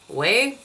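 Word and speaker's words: OUAI: how you say it it's not wi it's o u a i way wav spray so this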